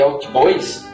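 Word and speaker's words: hautbois: ao seu registro Agudo embora a pronúncia atual de albis se assemelha a oboa até o século 17 a pronúncia eraa oboé o nome permaneceu assim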